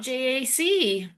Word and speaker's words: JAC: It's not Jack. It is JAC, I think.